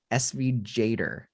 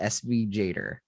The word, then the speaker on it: SVGator: what's it called sv it's actually kind of hard to say sv jader like that's how that's how they say it sv jader i think it's like animator with svg so sv jader yeah so so if